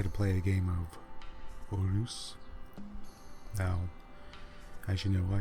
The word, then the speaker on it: Reus: Maybe there's a little more trill to the R in the beginning, but that is the way to say it.